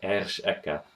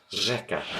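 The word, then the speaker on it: řeka: You don't see here ersh eka. This means river, by the way. Instead, it's pronounced rzeka.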